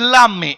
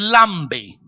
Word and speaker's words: lambe: se dice aquí lambe aquí no es lame es lambe aquí este como lambe este